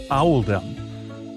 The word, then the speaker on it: Oldham: This choice was made to reflect the pronunciation of Oldham in the local accent, which is Owldom.